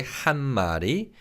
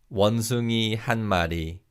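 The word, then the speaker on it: 한 마리: which is hana also when you say han mari because of connected speech the niyam bachchim in han sounds like kamiyun bachim let's practice saying this phrase repeat after me han madi excellent job well done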